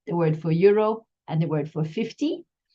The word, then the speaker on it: euro: Bien, 15 euros.